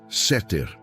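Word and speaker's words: סתר: Para aprofundarmos neste conceito, podemos olhar para a palavra hebraica para esconderijo, usada no Salmo 91, que é seter, se pronuncia seter.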